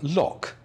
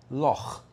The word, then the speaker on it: Loch: know what that means why do non-scottish people say lock when they should be saying Loch you wouldn't call the